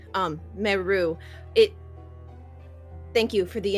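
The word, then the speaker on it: Merrue: Um my name is um Meu, which is m e r r u e with a silent e. Um, meou it.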